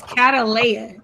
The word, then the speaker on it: Catalea: So it's Catalea. That's how you say her name.